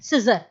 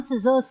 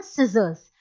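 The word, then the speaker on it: scissors: देखिए सिजर्स है, कभी भी हम सीजर नहीं कहते, हम सिजर्स कहते हैं। कुछ लोग सीजर बोलते हैं, लेकिन उसका एग्जैक्ट प्रोनाउंसिएशन सिजर नहीं है, एग्जैक्ट प्रोनाउंसिएशन होता है उसका आपका सिजर्स।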